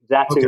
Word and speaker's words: Zatu: which one's the uh which one's preferred zatu zatu is how we we would say it okay I am glad I asked then all right so as I understand it zatu games provides UK fulfillment services at least that's